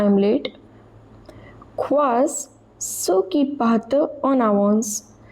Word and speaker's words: partent: Quas, ceux qui partent en avance. Both of these are verbs, so ent at the end of them is silent.